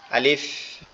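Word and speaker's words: ا: নাম আলিফ এই যে এটা উচ্চারণটাও খুবই সহজ একবারে আপনি শুধুমাত্র আপনার উপরের দাঁত দুইটা নিচের ঠোঁটের পেটের সঙ্গে লাগবে। উপরের দাঁত দুইটা নিচের ঠোঁটের পেটের সঙ্গে লাগবে। লেগে হালকা আওয়াজে উচ্চারিত হবে। আলিফ আলিফ এভাবে।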